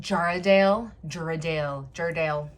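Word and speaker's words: Jarrahdale: And it's pronounced Jarradale. I think it's Australian.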